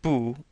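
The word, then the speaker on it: 不: Notice that Bu is a fourth character, a fourth tone character. So it's pronounced very sharply and falling. Bu. Whenever bu appears before sh or any other verb that is a falling fourth tone then bu is changed into the second tone.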